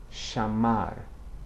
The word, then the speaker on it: chamar: Bring the two lips together, say mai, or chamar, where it begins a syllable.